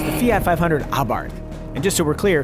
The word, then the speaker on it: Abarth: It's the Fiat 500 Abart. And just so we're clear, it really is pronounced Abart with a silent H.